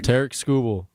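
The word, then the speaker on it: Tarik Skubal: Tarek Skubal. Tarek Skubal. Thank you very much. Hopefully he But you becomes have a to pronounce brewer.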